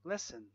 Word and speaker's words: listen: Silent T in words like listen, castle, valley, soften, soften, gourmet, gourmet, asthma, asthma, Christmas, whistle. Silent U in words like guitar, guilty, guard, colleague, and guess.